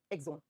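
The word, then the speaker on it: axon: हिंदी में एक्सोन लिखा जाता है। इंग्लिश में जब प्रोनाउंस करते हैं तो एक्सोन बोलते है एग्जोन।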